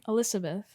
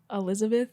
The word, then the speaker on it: Elizabeth: but no I mean my name is spelled with an S and I'm actually very like it's cool I care that people pronounce it with an S but nobody does and like I'll correct you if you say it with a z cuz it sounds different so say your name Elizabeth